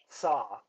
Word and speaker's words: TSA: is TSA uh his his name is pronounced saw so there's a there is a slight emphasis on the T and then saw so oh that's that's